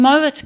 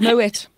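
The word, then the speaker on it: Moët: But no, a lot of people think that they must pronounce it the French way and go Moe. Moe. But meanwhile, the guys, the family. Yeah, are originally from Holland, from the Netherlands.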